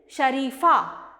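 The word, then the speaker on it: शरीफा: Now this pronunciation is Sharifa, Sha-ri-fa. So with Ra we have E symbol, that's why it sounds Ri. Sha-ri-fa, Sharifa.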